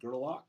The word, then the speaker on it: Gerlach: So I'd rather go more Scottish than anything else with Gerlach, and so that's how I'd like to say it, and I'm going to say it like that.